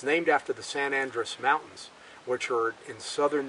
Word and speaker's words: San Andres: It takes its name, a lot of people mispronounce it, they call it San Andreas, but it's actually San Andres, A-N-D-R-E-S. It's named after the San Andres Mountains, which are in southern New Mexico.